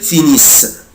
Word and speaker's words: finissent: il elle finissent mais je ne prononce pas ENT ومش بنطق ال ENT، بقولها كده finissent finissent. يبقى انا دلوقتي مش بنطق